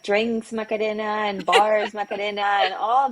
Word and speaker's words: Macarena: Well, Well, it should be Macarena, but it's like it's hard to switch the tongue.